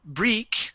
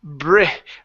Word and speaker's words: brick: word brick right here instead of Brie Brik or break it's a brick brick brick ok so the